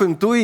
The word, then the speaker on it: INTUI: вимовив назвудивіться вірно то я сказав інтуй і це вірно Так Вперше у вас